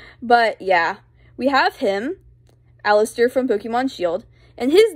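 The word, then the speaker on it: Allister: yeah we have him Alistair from Pokemon shield and his name is spelled a l l i s t e r so it's like all I stare that's our first spelling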